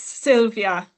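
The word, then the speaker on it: Sylwia: Hi, it's Sylvia. Sylvia. So the W is pronounced as a V.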